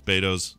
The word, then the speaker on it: Beto's: Makes and it's pronounced Beto's. It's not Beto's Burritos. Mm, it's Beto's.